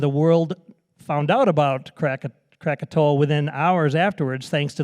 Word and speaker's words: Krakatoa: hardly not notice these Krakatoa or the natives pronounce it crocato erupted in 1883 it